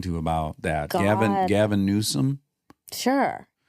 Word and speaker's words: Newsom: Gavin Newsom? Sure. How do you say his last name? Newsom. Yeah. Okay, there's no N deep in there, Newsom or anything.